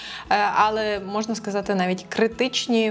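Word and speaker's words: ale: Але зверніть знову ж таки увагу на вимову, щоби не казати польською, але акцент на першу а.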